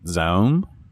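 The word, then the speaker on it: ZA/UM: developed and published by i think you pronounce it zone it's like z-a-u-m in 2019 and this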